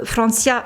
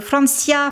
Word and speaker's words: Francia: c'est en 2013 que Francia oui je fais l'effort de le prononcer à l'espagnol parce que Francia c'est pas c'est moins beau donc Francia c'est en 2013 donc